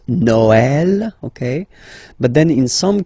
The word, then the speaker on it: Noël: The last one, tréma, well, basically it's quite rare, and the tricky thing is that in some cases you will have to pronounce it like eh, okay, like for instance Noël, okay, but then in